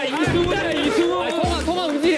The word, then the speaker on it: 이승훈: 야, 발음 왜 이래? 실망하는 눈치다. 응, 강승현, 강승현이 형. 강승현. 강승현, 강승현이 형. 강승현. 강승현. 강승현 아니라니까. 야, 이승훈이야, 이승훈.